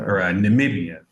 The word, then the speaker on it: Namibia: SP that say that Namibia namia Amia thank you Namibia swah you pronounce all the letters yes Dad thank you